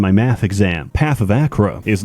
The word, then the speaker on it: Achra: Path of Acra is not only the Acra, okay, that is how it's pronounced.